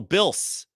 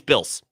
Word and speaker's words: Bills: He says Bills and also Bils with a hard s.